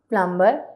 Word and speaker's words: plumber: अब यहाँ पे कहीं पे भी बी नहीं बोला जाएगा। क्लाइम, लाइम, थम, प्लम्बर, क्रम, कॉम, लैम।